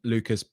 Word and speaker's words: Lucas: The news coming out of Spurs this week that Archie Gray and Lucas Berrywal.